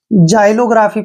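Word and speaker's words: xylography: जैसे next word है एक्स वाई एल ओ जी आर ए पी एच वाई ठीक है ना इसको दोस्तों हम जाइलोग्राफी पढ़ेंगे क्या पढ़ेंगे जाइलोग्राफी ऐसे लिखेंगे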